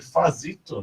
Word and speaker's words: Fazzito: Fazito, né? A pronúncia tá certa?